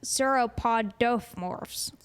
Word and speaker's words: sauropodomorphs: So then within the Saurischias, there's also the theropods, and then there's the sauropodomorphs. Sauropodomorphs. I was like, I'm missing syllables in there.